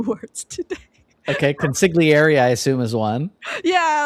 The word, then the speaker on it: consigliere: Okay, consigliere, I assume, is one. Yeah, like I thought it was pronounced consigliere. I didn't know that you say the re at the end, and then prelude and prelude.